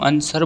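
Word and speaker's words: answer: अपने से बढ़ेगा वि इज वि इज a silent letter in word आंसर इसमें क्या डब्ल्यू आंसर जो है साइलेंट रहता है व थोड़ी बोलते हैं हम आंसर बोलते हैं चर्चा के शिष्टाचारों में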